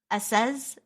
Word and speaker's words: Assez: Alan Studio, Asobo Studio, Assez Studio. Spell it. ASSEZ. And then Avoir Studio. Oh, like SC. Like enough. Enough studio.